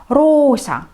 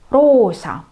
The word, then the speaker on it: roosa: Если две гласные, например, рядом стоят две О, rosa, розовый, rosa, розовый, протягиваем две буковки О.